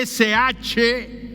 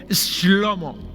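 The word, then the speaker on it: שלמה: El nombre de Salomón se escribe S-H-L-O-M-O, Shlomo. Shlomo en hebreo.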